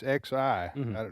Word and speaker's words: Xi: It's Xi. That's the way you pronounce it.